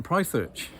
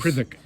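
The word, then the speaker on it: Prytherch: And we published a lovely book about Robin Prythirch and his... Prithick. Prithick. Oh, Prithick. Oh. You've never known how to pronounce it all this time?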